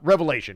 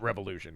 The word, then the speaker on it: Revelation: There will definitely be much more discussion on Revelation, not Revolution. I knew I was pronouncing it wrong.